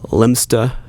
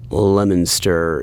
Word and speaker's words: Leominster: If you Google that, some people say Lemsta. Other people pronounce it more like 3 syllables, Leominster, Lemster. I'm pretty sure that Leominster is as close as I can get. I'm not from Massachusetts, but from my little bit of research, I think Leominster is the standard American dialect way to pronounce that town, Leominster, Massachusetts.